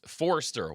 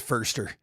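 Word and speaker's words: Foerster: So, 49ers assistant head coach Chris Forester will take over the primary responsibilities while Shanny heals.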